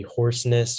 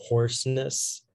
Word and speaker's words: hoarseness: Yeah, so there's a slight alternate pronunciation. It can be hoarseness or hoarseness.